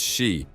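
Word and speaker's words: 四: number four pronounced as she is usually associated with superstitions and considered unlucky this belief stems from the fact that she sounds similar to the word for death in Japanese which is shei as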